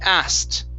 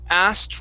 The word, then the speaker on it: asked: is going to be asked okay go straight to a t forget about the k sound it's asked rob okay so instead